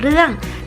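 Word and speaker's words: 热: มั้ย ฮะ อากาศ ร้อน ภาษา จีน น่ะ จะ ออก เสียง ว่า เร่อ ออก เสียง ตาม เรา ชื่อ นะ คะ Sir แปล ว่า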